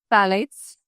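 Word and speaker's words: phthalates: I learned how to pronounce that. The P H T H A L A T. Yes. It's phalates.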